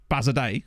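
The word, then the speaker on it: Bazadaise: aisy now we're talking the bazy pronounced bazard day okay never mind originated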